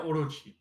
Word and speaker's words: Orochi: name like you you uh how do you pronounce it yeah orochi yeah so we would say oh because it's